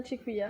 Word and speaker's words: Tikuya: Et Tikuya, je l'ai bien prononcé? Oui, c'est bien Tikuya.